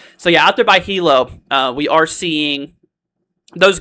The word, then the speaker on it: Hilo: Saying it's pronounced Hilo. All good, bro. All right. Thank you. I appreciate it, friend. Jason, once again, thank you so much, dude, for the $2. It's Hilo. Okay.